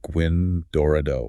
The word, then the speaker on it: Gwyn Dorado: So now we have Gwyn Dorado, and that's pronounced Gwyn Dorado.